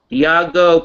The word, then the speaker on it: Diageo: Am I pronouncing that right? Diageo? Yes. Diageo PLC.